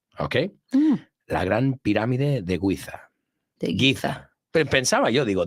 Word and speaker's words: Giza: The Great Pyramid of Giza. Yeah, Giza. Entonces nosotros la Z en vez de Z lo pronunciamos como Giza.